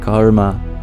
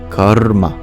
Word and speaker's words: karma: So it's not just karma, it's karma. Actually, it's a vowel. So there's 3 syllables of karma. It's the ka, ur, and then the ma.